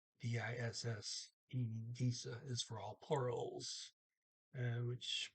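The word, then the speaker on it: disse: Detta is the neuter form, and disa, D-I-S-S-E, disa is for all plurals, which pretty much matches German, by the way, for disa. Um, Pretty close, same pronunciation.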